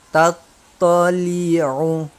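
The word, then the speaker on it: تَطَّلِعُ: Ini ta, ini beda banget ya antara ta dengan to, ya. Yang paling sering salah di masyarakat itu ketika baca ta dengan to ini disapu rata sama, padahal beda banget itu. Jadi ta to, karena to-nya ada tasydid maka ditekan. Allati tattali'u, tattali'u, tattali'u.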